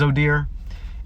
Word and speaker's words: Odir: welcome to oh dear still trying to figure out the way I can pronunciate that in a way of making it sound like the phrase because I know it's going to be complicated since my name is odir and I'm about to